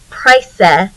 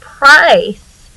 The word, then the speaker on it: price: We don't say price or prike or prisse. We are making that E becomes magic and makes the I say its name. So it's per, I, we have a soft C here. So the word price is long vowel because of that magic E.